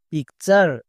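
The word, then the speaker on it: picture: বসিয়ে দিতে হবে যেমন পি আই C pick P ইউ আর ই চার পিকচার এরকম করে উচ্চারণ করতে হবে এরকম করে যদি উচ্চারণ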